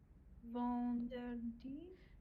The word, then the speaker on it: vendredi: Vendredi. Vendredi, because if you break it down, this is an RE, so re and di. Vendredi.